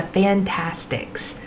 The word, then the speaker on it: Fantastix: So one of my favorite tools to use for this is called a Fantastics. It is a product that it's spelled Fantastix, and you can get